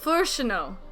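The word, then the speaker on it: Fourchenault: Furshino is how he pronounced it.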